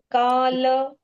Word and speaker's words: काल: ये सुदर्शन सुदर्शन यस काल काल ल का उच्चारण पूर्ण काल इति इति दिग